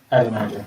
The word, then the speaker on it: Adonijah: Adonijah.